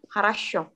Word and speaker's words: хорошо: Jadi bacanya Harashu, Хорошо. Harashu. Harasho. Хорошо.